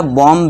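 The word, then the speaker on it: bomb: इसी तरह बॉम्ब भी जो बॉम्ब होता है, बॉम्ब नहीं होता दोस्तों। बी साइलेंट होता है। उसमें क्या हम पढ़ते हैं? बॉम्ब है ना? जैसे आप पढ़ते हैं ना ये बी ओ एम बी। तो यहां बी भी क्या है? साइलेंट रहता है।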